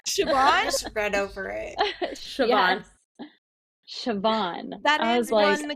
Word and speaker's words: Siobhan: And also, how many times did you guys have to Google and listen to how to pronounce her name? Because I did a lot. Siobhan just read over it. Siobhan.